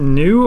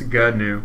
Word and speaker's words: GNU: two syllables, GNU. Oh, it is GNU. That's what Wikipedia's pronunciation key says.